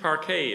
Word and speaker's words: parquet: Toshiko had expensive parquet installed in the foyer.